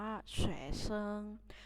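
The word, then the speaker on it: 学生: ศัพท์ ที่ ศาล ตรง นี้ เขา อ่าน ว่า แชร์ เซิง shezhen แปล ว่า นัก เรียน นั่น เอง ที่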